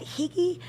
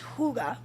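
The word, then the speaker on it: hygge: and it's spelled h-y-g-g-e a lot of people are like is that hiki no it's hyga and it's the Danish art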